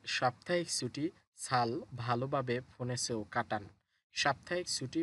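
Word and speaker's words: 잘: এখানেও শব্দের শুরুতে জিউত আছে, সুতরাং স ধরতে হবে, আর রিয়েল নিচে থাকলে তো ল হয় সাল।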